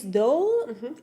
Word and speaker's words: Doak: And your last name is. What is the best way to pronounce it? Do like an oak tree with a D.